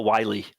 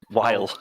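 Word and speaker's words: Wyle: That was your first bad pronunciation. Noah Wiley. Oh, Noah Wiley. What did I say? Yeah. Weil.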